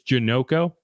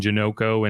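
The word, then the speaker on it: Janocko: that is Andrew janoko I figured out how to say it it is janoko so uh in case anyone was wondering and why I kept vacillating between janoko and janako it's janoko uh it's simple but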